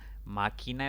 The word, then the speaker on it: máquina: Máquina es una palabra de 3 sílabas. La mayor intensidad recae en la antepenúltima sílaba. Por lo tanto, debe atildarse.